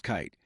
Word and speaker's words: Keith: Max Keith, pronounced Kite, was a man in charge of Coca-Cola GmbH in Germany.